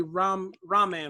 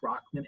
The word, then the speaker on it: Rockman: Yes, it's Rockman. So it looks like Robin, Rockman, okay. you're not the first to do that, so it's all right. But yeah, it's pronounced Rockman.